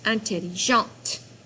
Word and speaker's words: intelligente: So, it becomes intelligente. The T over here is silent. You don't pronounce it. Intelligent. But here, when you add the E when you're describing a girl, you do pronounce the T.